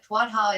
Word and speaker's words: Tuatha: The pronunciation of Tuatha is strikingly similar to the Hopi Tuwata and provides further evidence for the early worldwide distribution of knowledge from a single source.